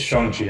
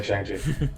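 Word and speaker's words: Shang-Chi: and watched shang chi shang shi um it's shonji i've been saying chang uh he actually that's how they actually pronounce the movie good good this clarification is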